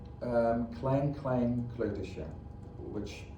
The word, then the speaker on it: Kleutertje: Klein Klein Kleutersje, which How do you spell it? it's K-L-E-I-N, new word, again, K-L-E-I-n, and then Kleutertje is K-L-E-U-T-E-R-T-J-E, Klein Klein Kleutertje.